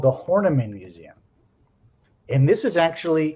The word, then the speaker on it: Horniman: And you interned at the Harriman Museum in London. Is that correct? The Horniman. Horniman, sorry, mispronounced that.